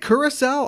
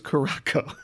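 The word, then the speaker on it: Curaçao: one dollar one dollar is it curacao i always thought it was carracco i've been saying it wrong my entire life i've been saying it wrong my entire life no i think i think you're right it's got the squiggly thing on the bottom yeah well bartenders know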